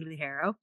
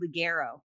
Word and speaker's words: Lugaro: and well except that most people pronounce it wrong so they're going to be out there spelling it wrong how do you i've actually had people in the industry call me lady liguero no yes in the